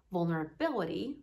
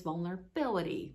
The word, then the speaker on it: vulnerability: example in the word vulnerability the stress is on the fourth syllable right it is so